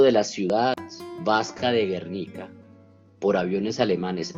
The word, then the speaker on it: Guernica: Es en este contexto, ¿no?, en el que, entre otras cosas, se produce, por ejemplo, la batalla de Guernica, ¿no?, o Guernica, para ser más exactos en la pronunciación, que pues es importante